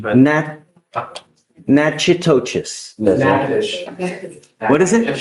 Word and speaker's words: Natchitoches: I butchered the pronunciation, but. Natchitoches. Yes, What is it? Natchitoches.